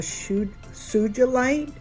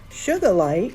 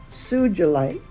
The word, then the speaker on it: sugilite: I have a hard time pronouncing that because I want to say SUGILITE because that's kind of how it's spelled, but it's not. It's see, I'm at it again. SUGILITE, and it's a real deep purple.